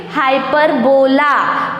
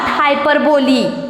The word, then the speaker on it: hyperbole: Now see, the spelling is Hyperbole, but then also we have to pronounce it hyperbola, not hyperbole. Okay, here is E, but then also we have to pronounce it A.